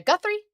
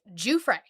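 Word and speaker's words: Giuffre: Her name is not Virginia Guthrie. It's not Virginia Goofrey. It's Juay. Virginia.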